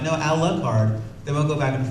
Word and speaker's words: Alucard: no it's an rl thing and we would pronounce it a luck card and they're like no no no it's our card because it's dracura backwards then you've got to